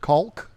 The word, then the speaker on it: caulk: that chemically cocking smell I hate people who pronounce it caulk even though that's the appropriate way of saying it I watch a